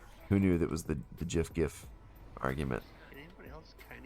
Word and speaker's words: GIF: Little, it's like the Homer backing away into the bush gif, you know. Did you say GIF? That's how that's how the original creator pronounced it.